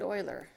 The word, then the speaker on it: Euler: of x this notation is attributed to leonard euler his last name spelled e-u-l-e-r but is pronounced euler in 1770 euler wrote what is